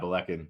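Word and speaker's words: Ballechin: Is that how you pronounce that? Yeah, Belecan.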